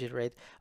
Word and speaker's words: Giter8: you were to install jitter 8 or g8 which is pronounced iterate yourself then you would